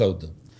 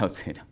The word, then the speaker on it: Auth0: proyecto de Es outero, no es auto. Es outero. Es cero. Es cero. Sí, sí. Este, tengo un problema con los nombres de las de las empresas que que cuesta que la gente lo pronuncie, pero sí es AUT de authentication y cero es el número.